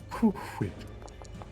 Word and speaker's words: Cool Whip: Why do you put so much emphasis on the H? That's how you say it. Cool Whip.